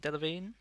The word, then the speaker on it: Delevingne: Is it Delevingne? How you pronounce that? Correct.